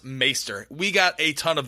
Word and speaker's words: maester: he was great um actually it's pronounced maester we got a ton